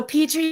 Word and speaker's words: Petrie: So Petrie is how you say. Yes. That's how I would have. Kind of like Petri dish. Just spelled different.